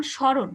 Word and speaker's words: স্মরণ: যেমন স্মরণ, এই শব্দের এখানে ভুল লেখা আছে, সারণ হবে না, স্মরণ হবে।